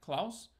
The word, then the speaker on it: Klaus: making of cloths cloud let's get how they pronounced it Klaus Netflix is 2d animated Santa Claus film that